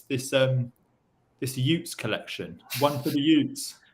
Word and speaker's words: y00ts: So it's spelled Utes, which is Y00TS.